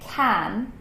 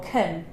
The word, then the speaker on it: can: you learn this work we actually have two ways of saying it you can either say can or kun a nice odeon stress